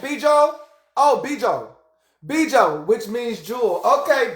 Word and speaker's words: bijou: Oh, Bijo.